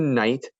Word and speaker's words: knight: of the word night without the k it's night like night time when the stars come out and with the k it's a knight like a knight in armor like a warrior now let's practice our